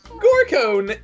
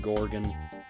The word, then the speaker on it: Gorgon: friend what's your name Gore cone huh Oh rat Betty I'll catch you later hipster I'm related to Medusa you are it sounds like you were mispronouncing Gorgon ah don't blame bubbles